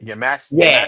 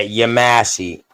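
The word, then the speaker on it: Yamasee: So hearing folks say they say, they be saying Yamasi. You ever heard them say like that? Yamasi. I'm like that is actually the right pronunciation. I didn't know if it was or not. Yeah. Yamasi.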